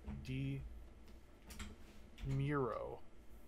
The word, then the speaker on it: DeMuro: viewer named doug demuro demero is pronounced like d miro oh he loves to